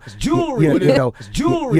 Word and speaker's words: jewelry: Because the first syllable is stressed, and the second syllable includes the schwa sound, this often sounds like and becomes just one syllable. That second vowel gets reduced to almost nothing.